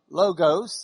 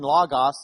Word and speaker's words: logos: The Greek word for word, logos in Lubbock pronunciation, logos if you probably pronounce it right.